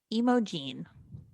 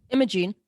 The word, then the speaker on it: Imogene: Imogene. Yep. Right? Imogene. Yep. It sounds like emoji, but it's Imogene Remus.